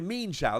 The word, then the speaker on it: Mienshao: No, Mienshao, that's how you pronounce it.